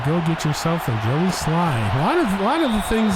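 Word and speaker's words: Slye: That is why you go get yourself a Joey Sly. A lot of the things that you can do about kicking rhymes with Sly, you know?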